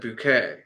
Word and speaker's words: Bucket: it's the same thing her last name in the show is bucket but she pronounces at bouquet so like to seem more fancy so I think Nan